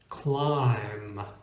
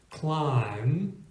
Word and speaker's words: climb: is silent uh is when it's in combination with an M as in mb or with a t as in b t here are a couple of good examples climb climb MB appears at the